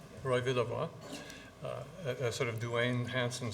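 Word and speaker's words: Villevoye: This is, of course, Roy, how do we pronounce his name? Villevoix, Roy Villevoix.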